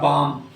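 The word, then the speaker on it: balm: यहां पर हम देखेंगे बा ल एम लिखा है तो एम से पहले आया तो ल का उच्चारण साइलेंट हो गया और इसे हमने पढ़ा बम बम जानते हैं तो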